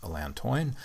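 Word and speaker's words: Allantoin: Plantain contains alantoin sometimes pronounced alantoine.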